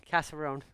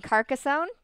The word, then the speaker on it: Carcassonne: at it's right here Oh Cass Arun what is it Catherine you mean Carcassonne casserole like like a casserole what about this one